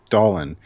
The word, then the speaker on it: Dallin: Dallin rhymes with pollen, so.